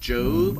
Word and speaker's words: Job: His name is pronounced Job. I know it doesn't have an E on the end, but gosh.